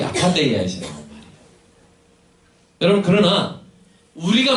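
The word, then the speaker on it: ἀπάθεια: 네, TH 발음을 제가 좀 아파테야 이렇게 하면서 하고 있습니다. 여러분, 그래서 여기서 에퍼시라는 말 들어보셨나요? A-P-H-T-A-Y. 뭐냐면 냉정이라는 뜻이 에퍼시. 영어 동사인데, 영어 명사인데, 바로 이 아파데이아에서 나온 말이에요.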